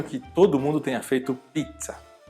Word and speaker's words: pizza: É uma palavra bem italiana e o som dela é como se fosse um TS, né? Então você fala pizza.